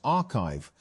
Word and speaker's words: arXiv: Although papers are posted to the site before they are peer-reviewed, arXiv, pronounced archive, has become one of